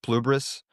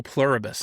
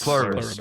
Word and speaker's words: Pluribus: What's the How do you even pronounce the name? I I I watched half of it. Pluberus. Plubris. Oh, Pluribus. Pluribus.